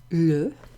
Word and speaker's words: le: Okay, this one actually rhymes as well with those.